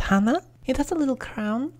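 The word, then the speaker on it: 花: It's pronounced hana.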